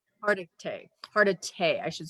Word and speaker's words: Hargitay: Hargitay. Hargitay, I should say that right. I was going to say Hardigay, and I was like, no, that's not it.